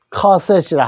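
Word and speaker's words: cassette: 커셋이라 한다. 자, 카세트 알아두시고. 자, 그 다음에 첼로.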